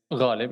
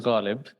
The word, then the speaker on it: Ghalib: It's a bit hard to pronounce, but you know how you make that gargling sound when you gargle water or anything? That's how that's how you start it. So my name is Ghalib, and right now a